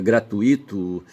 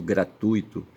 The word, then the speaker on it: gratuito: Mas a gente fala que é um desvio porque fonologicamente, sabe, ali o acento recai no u é e da sílaba ui, tá certo? Então se diz fortuito, gratuito, certo?